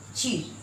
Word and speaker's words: चीर: फिर नेक्स्ट देखिए यहाँ च में हर्षी र, चिर। चिर का मतलब हो गया बहुत या फिर दीर्घ। और यहाँ देखिए च में बड़ी र, चीर। चीर खींच कर बोल रही चीर, इसका मतलब हो जाएगा कपड़ा।